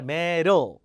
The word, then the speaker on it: medalist: 하는 법 알려 드렸죠 medalist 스 자 디가 리처럼 발음되는 이유는 모음과 모음 사이에서 디가 리처럼 돼요 메달이 아니라 메들 List medalists overwm and